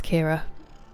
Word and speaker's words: Kira: But yeah, it's Kira. Like Keira Knightley.